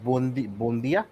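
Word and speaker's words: Buendía: যেটা হচ্ছে যে Arsenal are losing out on Emi Buende it seems because Emi's decided okay, How do you pronounce the last name? Buendia.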